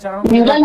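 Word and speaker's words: mural: म्यूरल बोलते कि मुराल बोलते, उच्चारण क्या होता है इसका? अरे म्यूरल होता उच्चारण को लेकर के कंफ्यूज मत रहिए, बस आप समझ रहे हैं उसका अर्थ को समझिए ना।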